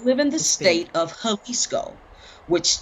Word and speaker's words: Jalisco: in the state of jalisco which it starts with a j but it's pronounced with an h you know mexico right